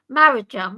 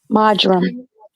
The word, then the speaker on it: marjoram: Marajam. Marajam? How do you pronounce it? Marajam? Marjoram. That's it.